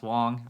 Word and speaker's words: Wang: I do understand it's it's spelled w-a-n-g pronounced Wong I speak Chinese um